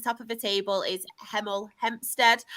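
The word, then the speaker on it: Hemel Hempstead: The top of the table is Heml Hempstead. I have to make sure I pronounce it slow to pronounce my H's or it's got it spot on.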